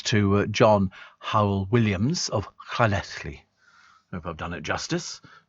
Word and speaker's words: Llanelli: So best wishes to my father, John Howell Williams of Llanelli. You notice the pronunciation.